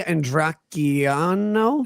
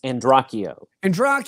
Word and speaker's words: Andracchio: on behalf of Ray Andracchiano. Let me explain it. Here's the best way to pronounce her name. Okay, think of Pinocchio. Okay, but instead of Pinocchio, it's Andracchio.